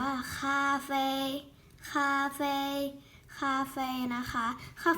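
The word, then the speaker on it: 咖啡: กาแฟ กาแฟ นะ คะ ภาษา จีน อ่าน ว่า ค่า แฟร์ Cafe Cafe นะ คะ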